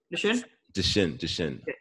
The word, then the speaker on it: Duchenne: Duchenne. Yeah, you got Duchenne.